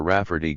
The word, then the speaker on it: Rafferty: He addressed the elder Rafferty gravely, pronouncing the name with the accent on the second syllable, Signer Rafferty, and this so amused